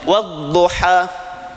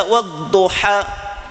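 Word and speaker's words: والضحى: Coba baca wadduha gak akan berhasil. Itu panjang pi baru berhasil. Wadduha. Kalau kita baca waduha berarti bukan mad di situ namanya bukan lagi aljauf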